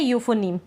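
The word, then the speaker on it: euphony: तो यह है यूफोनी। क्या है? यूफोनी। तो यहां पर आप सिर्फ इयू का ध्यान रखिए कि इ यू को हम पढ़ रहे हैं यू। इसमें यू को यूफोनी पढ़ रहे हैं।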